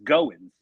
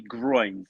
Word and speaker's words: Goins: But, my shoot last name in real life is Goins, spelled Goins, and people have been calling me Groins my whole life.